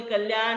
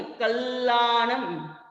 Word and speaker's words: कल्याणम: मंगल कल्याण आवासम, कल्याण बोल देते हैं, कल्याण नहीं है, कल्याणम।